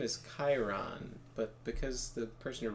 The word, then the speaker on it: Chiron: Where the guy's name is Chiron, but because the person who wrote it is retarded, they thought it was supposed to be pronounced Charon. So they were like, oh, he'll be Sharon.